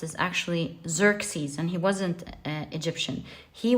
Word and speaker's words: Xerxes: The way his name is pronounced is actually Xerxes, and he wasn't Egyptian.